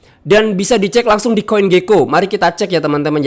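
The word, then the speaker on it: CoinGecko: eh tersedia proof of reserve di CG ya Indonesia bacanya Coin Geko dan CMF.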